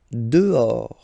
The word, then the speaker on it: dehors: Dehors. Okay, so remember final S not pronounced, and then this H in French doesn't exist phonetically, so you don't pronounce it.